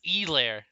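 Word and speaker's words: Helaire: why the money football no it's elaire like apparently you have to like emphasize the e and there's no h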